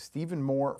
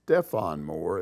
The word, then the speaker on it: Stephon Moore: Mike, the forward who decked the ASU player was Stephen Moore from Cushing, Oklahoma. Without him, there is no 40 minutes of hell. Okay, it's Stephon Moore, and that's the name. That's how it's pronounced.